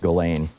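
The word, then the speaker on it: Ghislaine: And then of course there's Galain Max Gain I think it's pronounced Galain uh even though there's an S in it.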